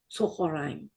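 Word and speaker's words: צהריים: Tzochoraim. Say it with me. Tzochoraim. That one's going to be a little harder because it's got more syllables.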